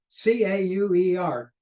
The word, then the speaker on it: Cauer: Okay, this is called a Cauer, C-A-U-E-R. Cauer is how I'm going to pronounce it, or it's also known as an elliptic filter.